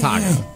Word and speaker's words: Taako: His name is Taco.